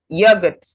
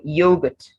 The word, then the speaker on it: yogurt: Then this word, yogurt or yogurt. So the word could be yogurt or yogurt, whether in British or American English.